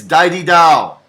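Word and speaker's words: Daididau: especially the easy songs they mispronounce the names of the song it's dai di dao it's akuyam okay learn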